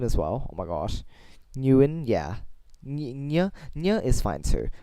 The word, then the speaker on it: Nguyen: Anyway, I understand people saying NH instead of NG. NH is also in Vietnamese, funnily enough. So, Nya is a thing. But Nya just seems, I think, is more natural for people to pronounce than ng. Ng is more stiff. Nya is just a bit of a lift of the mouth.